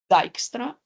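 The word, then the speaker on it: Dijkstra: his first name Edgar this is how you pronounce it and then the last name dyra the dyra algorithm this is how we refer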